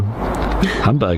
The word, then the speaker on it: Hamburg: Hamburg, there you go. Hamburgers. Hamburg. Is that how you pronounce it? Yeah, it's not Berg. It's Borg. Borg.